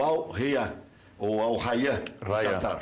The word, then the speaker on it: Al-Rayyan: O jogador vai defender por empréstimo o Al-Rayyan. Ou Al-Rayyan. Qatar. Al-Rayyan. Al-Rayyan do Qatar. Se escreve com 2 Y, né? Mas é Rayyan.